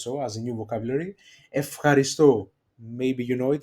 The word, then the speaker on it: ευχαριστώ: They are pronounced, these two diphthongs, alpha epsilon and epsilon epsilon, as af, f, ευχαριστώ, Δευτέρα, you see my pronunciation, and εύκολο. So they are pronounced as af, f.